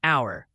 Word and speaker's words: hour: Like an hour, H is silent. Sounds like a vowel.